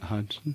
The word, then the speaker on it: Hodgson: We've got a special guest from down under today, so Hodgson. Did I pronounce that right? Let's see. Yeah, that was pretty good, yeah. Hodgson?